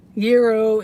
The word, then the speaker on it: gyros: Euro is proper pronunciation.